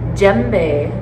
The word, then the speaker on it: djembe: It's called a djembe drum. It's spelled D-J-E-M-B-E.